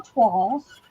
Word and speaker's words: toile: o i now l it's a french word 12.